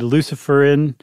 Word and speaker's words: luciferin: enzyme called luciferase if if you don't want to sound devilish about it that would be a fine pronunciation I like to say Lucifer in Lucifer and luciferase but they need something else